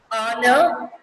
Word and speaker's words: honor: Because the consonant H here is a silent and we pronounce the words as our, honor, honest. Here we are, the H completely silent.